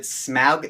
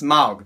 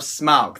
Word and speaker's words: Smaug: Can I just start by saying that I hate it when people pronounce it Smaug? That's not how it's pronounced. It's not Smaug, it's not Smaug, it's Smaug. The Desolation of Smaug.